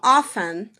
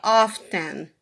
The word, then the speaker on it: often: Então, 48% não pronunciam T, eles falam often. E 33% sim, pronunciam o T, often.